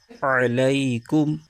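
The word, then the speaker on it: عليكم: کے ساتھ ملائیں گے۔ اس کے ہجے یوں کریں گے، عین زبر ع، لام یا زبر لئی، علی، کاف میم پیش کم، علیکم۔ آگے واؤ پر زبر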